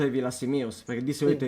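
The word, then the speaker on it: Villasimius: fatto quasi 20 anni di ferie in zona Villa Simius, e quindi qualche cosa di sardo conosco, e quindi Cugurra mi ricordo che era uno che poteva portare male, non portare iella.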